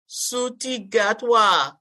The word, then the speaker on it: Ncuti Gatwa: So, and I don't know how to pronounce the brother's name, Sabrina. So come on with it. Ncuti Gatwa.